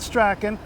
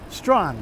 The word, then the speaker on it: Strachan: have to come see this street was named after the first anglican bishop of toronto john strong not Strachan strong because the original scots is strong the English like struck in my but strong so I've been on the